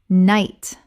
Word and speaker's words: knight: Night Common mispronunciation. K-N-I-G-H-T Correct pronunciation. N-I-G-H-T The K-N makes only an N sound and the G-H is completely silent. One syllable only.